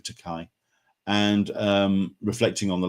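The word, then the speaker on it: Takei: um the new memoir it rhymes with rhymes with teai and um reflecting on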